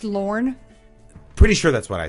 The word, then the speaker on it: Lorne: Well, it's pronounced Lorne.